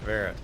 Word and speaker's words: Virat: Virat. That's how you say it. Verit Virat. Everybody has a. I keep saying Verit. That's what I was saying too.